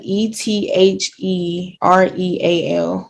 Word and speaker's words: ethereal: pronounce The Ether real it's like e t h e r e a l cereal ethereal that per Google um